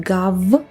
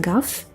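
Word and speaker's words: гав: Can you hear me pronouncing it a little bit differently, not gav, but gaf? It's because of the final devoicing.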